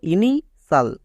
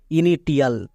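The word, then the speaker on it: initial: সাল কখন ইউজ করবো কোন শব্দের শেষে যদি টি আই এল থাকে তখন আমরা সাল ইউজ করবো একে অনেকে ভুল করে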